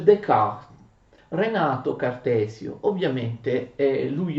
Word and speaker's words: Descartes: Si scrive così, si scrive Descartes, però non fate l'errore abbastanza comune di pronunciare Descartes, si legge Descartes.